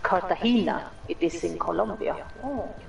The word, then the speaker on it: Cartagena: Oh, it is pronounced Cartagena.